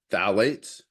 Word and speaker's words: phthalates: we did to detect phthalates, and the P is silent if you're trying to pronounce it.